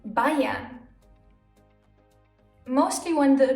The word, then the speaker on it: Bayern: But it can also be pronounced as I, like in Bayern.